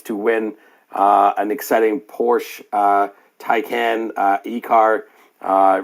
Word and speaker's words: Porsche: correct you on on the pronunciation of porsche is porsche since ipad so